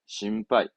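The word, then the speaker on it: 心配: 배는 하이 신배가 아니라 우리말로 걱정이잖아요 뜻은 걱정이고 발음은 그렇죠 신발 신발 신빠이 전 아까 일반의 반짝 저는 이제 반응 항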